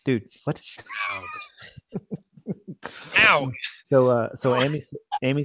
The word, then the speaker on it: Smaug: Oh yeah, so it's not smog. It's not pronounced smog. If you actually listen to, like you read into it, it's pronounced Smaug.